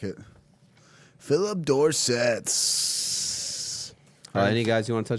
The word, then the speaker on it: Dorsett: Philip Dorsett. Any guys you want to touch on? Rhymes with corset.